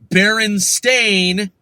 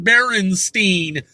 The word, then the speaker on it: Berenstain: We're not like, oh, okay, it's like Berenstain, but everyone's like mispronouncing it, calling it Berenstein.